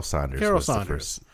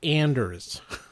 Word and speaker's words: Anders: Carol Saunders. Was the first director of. No, it's Anders. you got to pronounce it right, Anders.